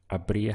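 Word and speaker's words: habría: need an accent over the a to indicate that the stress point is there so it would have been a Bria sido and again we're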